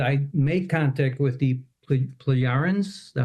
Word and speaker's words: Pleiadians: And my questions are, did I make contact with the Pleiadians? Is that how you pronounce it? Yes, Pleiadians, Pleiadians, same difference.